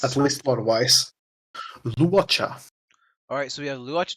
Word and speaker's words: Luocha: So how do you pronounce At least lore-wise. Luocha.